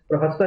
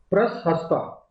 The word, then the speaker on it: प्रशस्ता: PRAS, प्रहस्ता नहीं, प्रशस्ता, PRASHASTA, प्रशस्ता, प्रशस्ता। ठीक है, प्रशस्ता कह सकते हैं इसको। ठीक है ना, इस प्रोनाउंसिएशन में मुझे थोड़ी सी प्रॉब्लम होती है। ठीक है, प्रशस्ता याद रखिए।